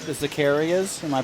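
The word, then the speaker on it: Zaccaria: And a lot of the games like the Zacarias, am I pronouncing it right?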